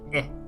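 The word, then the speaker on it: へ: And by e, it's not that e, it's this e. It's pronounced e.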